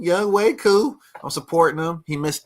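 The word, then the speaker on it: Younghoe Koo: See, I know how to say his name, Young Wei Koo.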